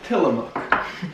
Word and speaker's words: Tillamook: Tillamook butter, as the Oregonians say, Tillamook. We got it right this time, and we'll say it again here. Tillamook, not a fucking mook.